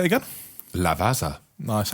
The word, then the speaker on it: Lavazza: It's Lavazza. Is that how you say it? It's how I'm saying it. Do you want to say it again? Lavazza.